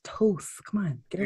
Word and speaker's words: Thoth: Anytime anybody mispronounces, like, say, Toth's name, there'll be a Thoth. I'm like, no, it's Toth.